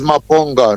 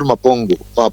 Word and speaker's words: Maponga: It's Maponga, not Mapongo.